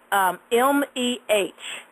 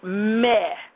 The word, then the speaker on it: meh: The other sound that I'm going to give you is M-E-H, and it's pronounced meh, meh, M-E-H, kind of like eh with meh with an M in front, meh.